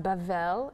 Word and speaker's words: Babel: one land um babel babel pronounced bavel in hebrew is babylon the tower